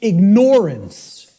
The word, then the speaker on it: ignorance: say to people the the impact of the word is almost lost to us of the word ignorance because of the way it's pronounced I tell people start pronouncing it ignorance ignorance then people will hear the word ignore in it and and the connotation